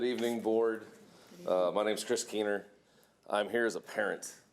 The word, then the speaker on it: Keener: Is it Keene or is there a syllable? There's an R at the end.